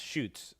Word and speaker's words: chutes: it's chutes not not it's pronounced shoots like like you shoot a gun or something uh the